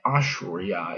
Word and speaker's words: Assyria: and they're up there in what is now Syria, but it really probably should be pronounced Surya and then Ashurya is Assyria. So it sounds actually a lot different in the in the languages that comes from in English.